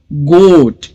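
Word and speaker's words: goat: को साइलेंट रखेंगे और लिखेंगे गोट ग ओ गो और टी यह हो गया गोट तीन साउंड हो गए ग ओ च गोट लेकिन इसके जो स्पेलिंग्स है उसमें चार लेटर्स है जी ओ ए टी ओके यह समझना जरूरी है क्योंकि इसमें जो है लॉन्ग ओ वोल आया है ए लेटर साइलेंट रहेगा रोड यहां पर भी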